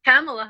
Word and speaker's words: Kamala: And Kamala Harris. Well, I don't want to say her name wrong, but right, because she's Kamala.